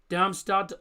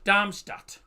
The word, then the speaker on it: Darmstadt: It's pronounced Damstad or Armistad. No it's pronounced Damstat.